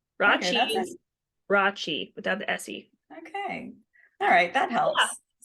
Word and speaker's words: Rathjen: Okay, here's a trick. So it's raw cheese, but just think of raw cheese. Raw cheese. Yes, E at the end. Raw cheese. Raw cheese without the S-E.